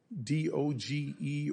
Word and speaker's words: DOGE: I just call it Doge like others do.